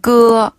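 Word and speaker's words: 歌: 끄라 단어는 노래 가짜인데 중국식으로 발음하면 끄어 어네 약간 아이들 트림하는 느낌이 있네요 그네 너무 진하게 하지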